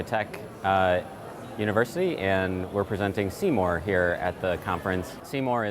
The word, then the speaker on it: SeeMore: Hence, we've sort of adopted the name as SeeMore. Of course, ours is spelled S-E-E-M-O-R-E, so it's more like see more inside of what's going on in the computer.